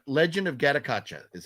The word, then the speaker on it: Gatotkaca: darn it it's a hard one to say gottakacha Legend of gattacacha is how you say it legend of katakacha